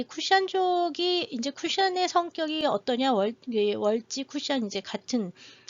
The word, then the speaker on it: 월지: 월시라고 쓰긴 하지만 월시라고 쓰고 월지라고 읽습니다.